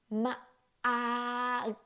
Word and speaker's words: มาก: Firstly, you pronounce the word mâak, but you do not release the ending sound.